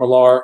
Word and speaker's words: Millar: This is the adaptation of Mark Millar or Mark Miller, depending on how you pronounce it.